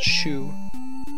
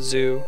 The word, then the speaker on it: Xu: So like if someone's last name is Xu in Mandarin Chinese, you're pronouncing that shu, not zoo.